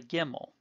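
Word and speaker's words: גימל: Gimel makes the g sound, and in the case of gimel, we will pronounce a gimel with or without the dagesh the same way, g as in God.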